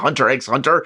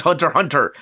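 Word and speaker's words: Hunter × Hunter: It's everybody that was reading the series like it's not Hunter X Hunter. It's Hunter Hunter.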